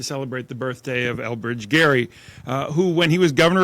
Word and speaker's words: Gerry: He gave his name, he didn't give the pronunciation. So we call Elbridge Gerry, but we call it gerrymandering.